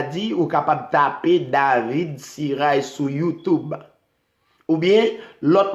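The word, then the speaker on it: Cirail: Si vous n'avez pas fini, donc allez sur David Siray, D-A-V-I-D, Siray, C-I-R-A-I-L, comme ça se prononce.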